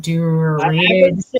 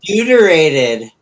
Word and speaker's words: deuterated: Uh, and includes a includes claims to novel formulations of DMT and D, how do you even pronounce that? Durated. Deuterated. Yeah.